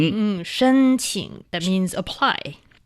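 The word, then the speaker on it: 申请: That is shēnqǐng. Shēnqǐng. Qǐng. Qǐng. Mhm, shēnqǐng.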